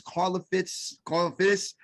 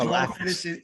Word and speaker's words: Karlaftis: And I know I butchered that last name. It's Karlaftis. George Karlaftis. Yeah, it's like Greek.